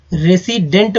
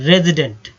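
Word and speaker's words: resident: रेजिडेंट, कई लोग रेसिडेंट बोलते हैं लेकिन अगर शुद्ध उच्चारण किया जाए तो रेजिडेंट, ठीक है, रेजिडेंट।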